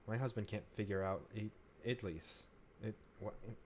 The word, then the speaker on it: idli: My husband can't figure out idlis. What? How do you pronounce that?